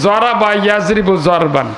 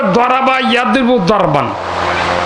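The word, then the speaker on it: ضَرَبَ يَضْرِبُ ضَرْبًا: যেমন যারা মাদ্রাসার এখানে ওলামা আছেন, মন সাহেব পড়েছি আরবি ব্যাকরণ, উচ্চারণ করছি জরাবা ইয়াজরিবু জরবান, উচ্চারণ করছে কি ফার্সি উচ্চারণ, ভুল উচ্চারণ। উচ্চারণ হবে দরাবা ইয়াজরিবু দরবান, আরবের উচ্চারণ না, জরাবা ইয়াজরিবু জরবান।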